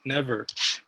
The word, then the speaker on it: NEVR: First, it was a NEVER complete never, but it was too long, so I took out the other E and just write NEVR, uh, still pronounced as never.